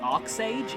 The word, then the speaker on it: Arch Sage: meant to be pronounced arc sage if if the Japanese pronunciation is anything to go by so yeah saurons camps